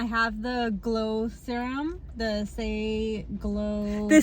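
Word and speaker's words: Saie: How do you say that? S-A-I-E. S-H-I. Do you know the brand? Say.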